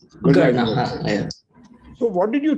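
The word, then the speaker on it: Gurnah: Is Gurna the right pronunciation or Gurna? Correct. Gurna.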